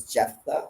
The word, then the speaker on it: Jephthah: is um jephthah's daughter i think it's jephthah is how you pronounce it and basically he